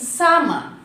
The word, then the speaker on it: salmon: No, it's not salmon, it's salmon. L should not pronounce here because it comes before the letter M.